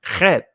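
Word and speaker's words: חית: And when I think about the wall, I think about this letter, the Kath, right? In the Israeli language, it's pronounced Chet, but it means wall.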